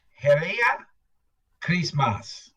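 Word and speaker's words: Heri ya Krismasi: wow cool Kenya Africa Christmas is pronounced Hera Christmas MH that's h e r i y a Chris MOS spelled a little differently yeah Santa Claus arrives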